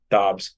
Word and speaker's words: Dobbs: get sacked or Dubes, how do you pronounce his name? Josh, the quarterback. I don't know, Joshua Dobbs. Dobbs. So it is Dobbs.